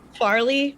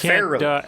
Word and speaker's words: Farrelly: Do you mean Farley Brothers movie? Farrelly. No, it's Farrelly.